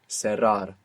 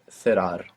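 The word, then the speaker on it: cerrar: Serar. Ser. Good. Or in most of Spain. Thear.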